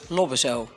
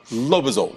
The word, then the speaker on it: Lobbezoo: How do you pronounce it? Lobbezoo. Lobbezoo. Yes. Okay, Lobbezoo. I almost pronounced it in Italian.